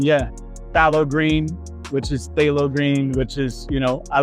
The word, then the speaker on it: phthalo green: recent song that I wrote is literally called phow green and then I realized that it's actually pronounced phthalo green so it's literally inspired by the color I